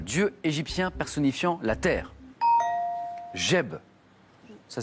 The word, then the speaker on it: Geb: Geb. Ça s'écrit G-E-B, Geb.